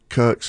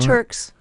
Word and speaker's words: Turks: so so then you came back from uh Kirks and takos is that did I say it wrong Turks tur turkey yeah turkey and kakei you came